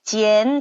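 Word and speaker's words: 见: 있는가 뭐 있을까요 그렇죠 이으로 읽어야 돼요 선생님 왜 이으로 읽나 이거 아까 안 연습 하셨는데 그래서 이안 아닌가요 B 아닙니다 이이라고 읽으셔야 돼요 단어 중에 우리가 만나다라는 자 지엔 자 사성 지엔이라고 해요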